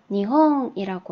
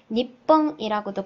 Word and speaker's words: 日本: 니혼이라고 하고요. 니뽕이라고도 발음하죠.